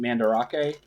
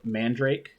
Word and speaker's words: Mandarake: I also stopped in Mandarake, or Mandrake. It's spelt Mandarake, but Mandrake is kind of hard to spell in Japanese.